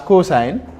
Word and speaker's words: cosine: Then the other one is cosine, is also abbreviated as cos, COS, but pronounced as cosine.